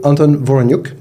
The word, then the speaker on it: Anton Voroniuk: Nice to meet you, Anton Voroniuk.